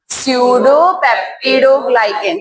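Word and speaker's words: pseudopeptidoglycan: साथ सडोप्टिडोग्लाइकेन कंपाउंड है क्या है सडोप्टिडोग्लाइकेन पी साइलेंट होता है।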